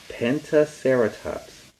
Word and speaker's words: Pentaceratops: Pentaceratops. This dinosaur had 5 horns. They were all on its face. Its name is Pentaceratops.